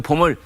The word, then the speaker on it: bomb: 남북한에 봄이 왔다고 대대적으로 선전 그런데 그 봄을 스프링 봄으로 읽는 사람도 있고 봄 BOMP 다 아시는 것처럼 마지막 B는 발음이 되지 않은 묵음이어서 그냥 봄 이렇게 하죠.